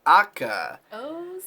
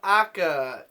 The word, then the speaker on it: ACCA: watched episode one of akka yeah I did how else would you pronounce CCA I think they were referring to it as akka in the dialogue but I'm not sure